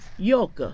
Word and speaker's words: Georg: George 是他的姓叫做 Georg。哦，怎么念？How to read your yes, Georg. Yoga.